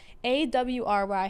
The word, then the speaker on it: awry: life go all right a-w-r-y how do you say that word all right all right don't let your life go awry okay have a routine